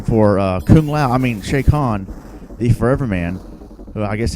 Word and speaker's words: Chakan: shake on right here almost called a shock on Jimmy thought meant Shao Kahn said no shake on as advanced a technical way to pronounce it shake on I always thought was shaken now you look like